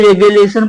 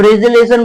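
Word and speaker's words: regelation: रेजिलेशन इस तरह होगा, कोई रेगुलेशन पढ़ता है, कोई रेजिलेशन पढ़ता है। ओके, तो रेजिलेशन बोलते हैं हम, मैं क्या बोलता हूँ, रेजिलेशन।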